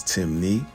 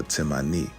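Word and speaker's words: Temne: Despite the various spelling variations, Timni only has two ways of pronouncing it, which is Timni or Timani, and this still maintains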